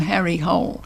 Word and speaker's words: Harry Hole: like Harry Hole, but even Joe Nesbo accepts that the anglicising of the name is he's just going to have to live with. So even in his interview, he calls him Harry Hole.